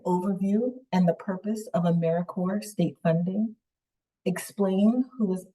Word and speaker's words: AmeriCorps: make that same mistake americore is alive and well just spelled with a silent P so think of Apple core or core of the earth now that we have